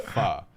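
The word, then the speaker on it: phở: But in reality, the word is actually pronounced pho, as in Ja.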